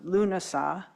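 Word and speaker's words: Lughnasadh: it's tells me on the internet that it's pronounced lunasa spelled differently as is saan um at the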